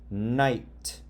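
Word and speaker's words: knight: When there's a K and then an N, the K is silent and you sound out the M. That's why you would say knob, ignore the K.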